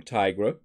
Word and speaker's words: Tigra: so the first one here west coast avengers Tigra and yes that's how you pronounce her name Tigra opponents have a minus eighty percent purify ability